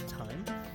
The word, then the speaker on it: thyme: with the th, the th, which is basically pronounced thyme, which is the herb or herb if you live in America.